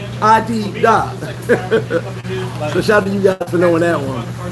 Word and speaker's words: Adidas: into, would be like Adidas. Because everybody didn't say Adidas. They said it like, they pronounced it like it looks Adidas.